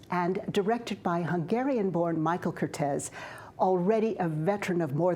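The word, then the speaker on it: Curtiz: and while his name is now almost universally pronounced curtis he pronounced it cortez as it was pronounced in his native hungary and i know how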